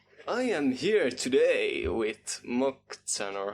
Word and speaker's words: Moczan: So I am here today with Moczan, or how the fuck do I pronounce your name? It's Moczan, but everyone What?